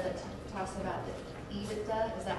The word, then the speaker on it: EBITDA: And this letter, this line of the letter that talks about the EBITDA, is that how you say it?